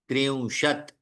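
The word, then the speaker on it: त्रिंशत्: दश दश विमशतिह विंशतिह त्रशत अब देखिए विशतिह विसर्ग आया ना इसलिए तीह लेकिन त्रिशत में क्या है त आधा है त्रियशत चत्वारशत वो भी आधा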